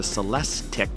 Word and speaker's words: Celestiq: Cadillac already has the Lyric, the Celestiq, that's spelled L-Y-R-I-Q and C-E-L-E-S-T-I-Q.